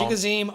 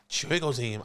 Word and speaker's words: Chigoziem: Chigoziem Okonkwo. Chigoziem.